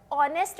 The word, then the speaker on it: honest: जब आप अंग्रेजी में इन शब्दों का उच्चारण करते हैं, तो आप 'h' ध्वनि का उपयोग नहीं करते हैं, आप 'o ' ध्वनि का उपयोग करते हैं।